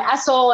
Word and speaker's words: ESL: moved down south and it's esau and essel and people even pronounce the same acronym different ways and then new york